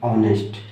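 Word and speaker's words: honest: आप लेटर को मत ना देखो, आप इसको देखो ना कि इसका उच्चारण क्या है, और उच्चारण का फर्स्ट लेटर क्या है। तो इसको पढ़ते हैं ऑनेस्ट, ठीक है, ऑनेस्ट, ऑनेस्ट मैन।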